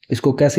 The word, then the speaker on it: chi: ये काई square test used to analyse nominal समटाइ्स known ऐज़ categorical data. It is pronounced का एंड is frequently written एज का square.